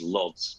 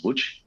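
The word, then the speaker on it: Łódź: Uh you might know it as Lods, but the proper pronunciation if I do it correctly since I'm not Polish is WH.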